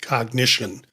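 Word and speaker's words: Cognixion: that's doing this is cognition and it's not spelled like we spell cognition but I'm giving you the pronunciation. It's C O G N I X I O N and I'm pronouncing it cognition.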